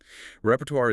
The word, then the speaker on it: repertoire: The challenge here is entirely that French origin again complicating the ending sound tuar. RP or tuar. Okay. Repertoire is the range or